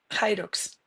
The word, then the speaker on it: Hyrox: Y ahí, poco después de esto, empezaste con el Irox. ¿Se dice Irox? ¿Lo pronuncio bien? ¿O cómo se tiene que pronunciar? Hyrox. Hyrox, Hyrox.